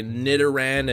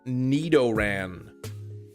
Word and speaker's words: Nidoran: pronounce Naran is correct I hear a lot of people say nitan and Nidoking it is in fact Nidoran neoran and nid King uh you want ice